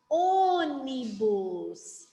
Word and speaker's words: ônibus: não não não atenção Se não tivesse o acento Como que eu ia pronunciar essa palavra eu ia pronunciar falando ônibus e eu falo ônibus não eu falo ônibus Então eu fechei esse som do então o acento vai ser no ou ó ônibus se não tivesse o